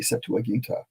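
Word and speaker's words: Septuaginta: know Latin I guess in Latin would be set to aginta um and Simon says you have to say it that way with the A on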